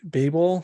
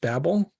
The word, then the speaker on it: Babel: is going to be Babel slash Babel depending on your pronunciation and um yeah I